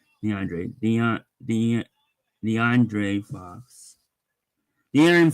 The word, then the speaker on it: De'Aaron: de de DeAndre fox dearon fox not DeAndre de sorry the Aaron